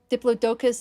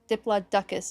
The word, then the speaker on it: Diplodocus: Diplodocus is the UK pronunciation. Diploduckus is the US pronunciation.